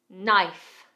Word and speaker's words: knife: Knife.